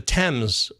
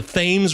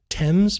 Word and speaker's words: Thames: that's where I learned how to say the temps the themes River for those of you Baseball fans Marcus Thames Eric Thames no it's the temps Eric TS Marcus TS the temps River that's right the